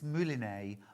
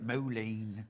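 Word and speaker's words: Mouliné: If you want the stranded coffin, it's mulina. I know how to say it now. I don't know how to say I've been calling it moline.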